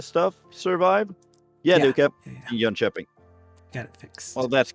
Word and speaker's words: Jönköping: Yeah, they kept Jönköping. Got it fixed. Well, that's good. Say it again. Pronounce the place again. Jönköping. Yeah. So the K sounds more like a j or a sh.